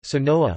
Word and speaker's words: Sonora: Sonora, Spanish pronunciation, Sonoa, listen, officially Estado Libre y Soberano de Sonora,